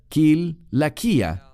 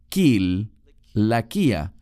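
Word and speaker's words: Cilicia: la frase aquí es kil laquia sé que muchos lo pronuncian con un sonido de s porque tiene una c pero en griego se pronuncia kil la quía Así que él era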